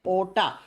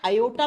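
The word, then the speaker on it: aorta: इसका नाम होता है ओटा स्पेलिंग होती है ए ओ आर टी ए इसको ओटा या योटा प्रोनाउंस करते हैं ठीक है प्रोनाउंस के समय आर को साइलेंट कर देते हैं योटा या ओटा इतनी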